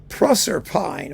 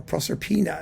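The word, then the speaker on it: Proserpine: And last but not least, George Lloyd, his symphony number seven, Proerpine or Propppina if you want to pronounce it that way from 1959.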